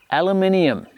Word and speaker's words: aluminium: it comes as aluminium you can paint whatever color you want and to my American friends that is how you say it aluminium got it good um